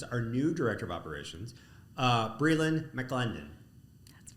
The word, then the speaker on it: Brielyn McLendon: We have our director of operations, our new director of operations, Brielyn McLendon. That's right. How did I do it? Good pronunciation.